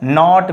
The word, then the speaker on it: knot: So in this case, you don't pronounce knee, knife, knight, knot, kno. No, only knee, knife, night, not, no. So in this case, K are understood or silent.